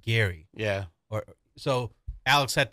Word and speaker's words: Gerry: but we call it Jerry oh yeah yeah but his actually was pronounced his last name's pronounced Gary yeah or so Alex